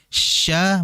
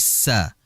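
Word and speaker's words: ش: adalah huruf syin jadi yang sering terjadi adalah merubah huruf syin menjadi Sin Sya menjadi sa maka ini harus hati-hati kemudian kesalahan yang berikutnya ya ini kesalahan yang memang masih khilaf yaitu adalah dikala huruf syin berharakat ee Maftuh atau berharakat fathah Maka jangan kita memonyongkan kedua bibir kita karena yang dilakukan yang di ee gerakkan itu adalah tengah lidah bukan kedua bibir sehingga Jangan sampai kita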